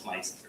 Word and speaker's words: Meisinger: No, it's Meisinger, it's not Meisinger.